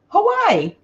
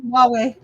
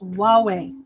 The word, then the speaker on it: Huawei: So this is Hawaii. No. Did I said it wrong. Huawei. Okay, because to me it looks like Hawaii. Hawaii? No. Yeah, but it's Huawei.